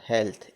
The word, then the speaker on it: health: HEALTH, LTH हो, ई ए के बाद LTH हो तो हेल्थ, ए होता है, उसका उच्चारण क्या होता है, हेल्थ।